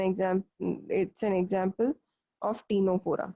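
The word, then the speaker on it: Ctenophora: और इस एग्जाम्पल जो ये मैंने डायग्राम बनाया, this is an example, it's an example of टीनोफोरा, CTE, C silent होता है टीनोफोरा में, टीनोफोरा या टीनो प्लाना, एक ही बात है, टीनोफोरा या टीनोप्लाना।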